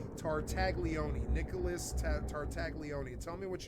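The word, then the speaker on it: Tartaglione: Tartagleone.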